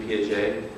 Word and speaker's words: Piaget: guy sir could you tell us the proper pronunciation for Gene kid Gene Piaget oh please do it again please silence in